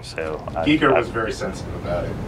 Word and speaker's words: Giger: Geiger, which is what I used to call him.